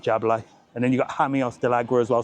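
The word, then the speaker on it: Jameos del Agua: And then you got hamios dagra as well. So never pronounce the J as a J. Pronounce it as a H.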